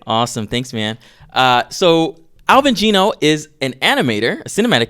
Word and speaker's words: Alvin Geno: So Alvin Geno is an animator, a cinematic animator.